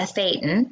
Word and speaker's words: thetan: Right, a thetan. Yeah, Thetan? that's how they would pronounce it, a thetan, right.